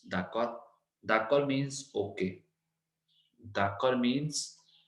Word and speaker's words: d'accord: तो next is d'accord, d'accord, d'accord. We don't have to pronounce D. It's d'accord.